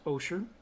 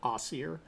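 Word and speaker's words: Osier: to OSHA oh sure it spelled OSI ER and it's pronounced oh sure make sure that when you speak to the locals you use oh sure and not Aussie er because they will correct you kind of like when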